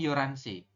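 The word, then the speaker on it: 열한 시: yoranso ya yoran yoran dibacanya kan kalau tulisan itu yolhan tapi kita bacanya yoransi itu ya yoranso adalah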